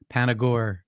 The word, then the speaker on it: Panagore: Panagore. Panagore. It's Panagore. It's a made up Greek name as opposed to an Italian name.